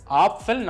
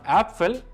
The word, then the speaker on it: Apfel: സോ it is apfel, not apfel.